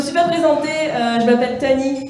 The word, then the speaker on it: Tahnee: Je me suis pas présentée, je m'appelle Tani. Tani, ça s'écrit T-A-H-N-E-E.